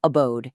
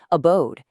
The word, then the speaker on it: abode: It's not flat like abode, it's abode. It's not accomplish, it's accomplish.